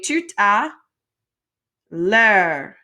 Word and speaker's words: tout à l'heure: And if you're having trouble getting that r sound at the end of words that end in re, like it helps if you keep your mouth open.